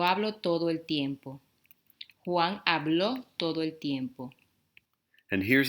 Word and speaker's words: habló: Juan habló todo el tiempo.